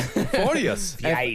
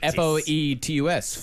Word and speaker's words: Foetus: Now, this one's spelled with an O. Yes. Yeah. Foetus. F-O-E-T-U-S.